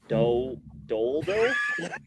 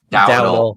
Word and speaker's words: Dowdle: I'm definitely gonna pronounce his last name. Rico Doldo. Dowdle.